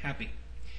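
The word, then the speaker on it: Hapi: ad the second is happy and it's pronounced the way it's spelled with one p happy the spirit of the Nile was his title and he was also called its Dynamic sense happy was the god of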